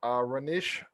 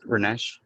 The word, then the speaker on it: Ranesh: Let's go with Ranish. Is it Ranish or Ranish? Or I want to make sure I say it right. It's Ranesh. Ranesh.